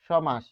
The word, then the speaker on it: সমাস: উচ্চারণ আমরা দেখে নেই যেমন সমাস সমাস এটার উচ্চারণ কি স